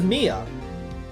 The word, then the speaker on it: Mia: ] way no the the younger one's Maya the older one's Mia I thought you've been saying Mia as Maya no you definitely did that a few times maybe not the whole time but you definitely did no the the Elder sister's Mia the younger sister's Maya I know how to